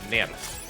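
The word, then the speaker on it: NERV: But, yeah, like, when I grew up, it was like, okay, this is, like, it's German, so you pronounce it Nerf.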